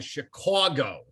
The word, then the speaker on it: Chicago: us into a meeting we do not live in chicago we live in chicago and so he put signs up leading into the studio that said we speak c-h-i dash c-a-w dash g-o chicago and i'm like okay